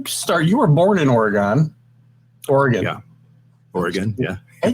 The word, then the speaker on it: Oregon: missouri yeah yeah oregon the easier way is o-r-y-g-u-n if you spell it that way or a gun i gotta do oregon i mean it's just